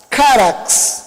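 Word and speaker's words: χάραξ: Essa palavra, ela deriva de uma outra, que é charax, carax, seria a pronúncia dessa palavra.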